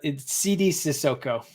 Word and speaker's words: Sidy Cissoko: but did I say that correctly yes that CD sissoko okay I've watched enough of the g-league now